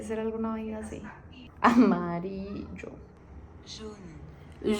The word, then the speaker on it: jaune: Jaune. June. ¡Ay, junio! Yo. Se dice como junio.